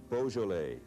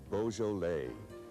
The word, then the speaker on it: Beaujolais: Here we have Beaujolais, Beaujolais.